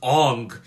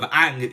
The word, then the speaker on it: Aang: Even the fucking Hollywood movie, they pronounced his name as Ong instead of Aang.